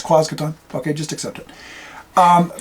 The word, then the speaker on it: Quasqueton: quason is you know people are going to say it's quasqueton quason no it's quason okay just accept it